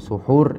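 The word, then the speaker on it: سُحور: ya memakan memakan sahur Jadi di sahur ini ketika kita berikan harakat dia sa gitu ya maka itu artinya adalah makanan yang dimakan ketika sahur dan EE kalau kita bacanya dengan suhur itu menunjukkan bahwasanya itu perbuatan ya perbuatan sahur itu sendiri itu namanya suhur sedangkan ketika kita mengatakan sahur maka adalah makanan yang disantap atau minuman yang diminum ketika waktu sahur dan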